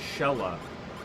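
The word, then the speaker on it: Xelha: It goes to Sheila. I keep saying Sheila, it's Shella. I'm pronouncing her name wrong.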